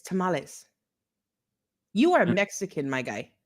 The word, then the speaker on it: tamales: It's tamales.